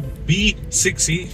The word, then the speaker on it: BE 6e: So this is the B6e. It is spelled out BE6e, but they pronounce it as B6e.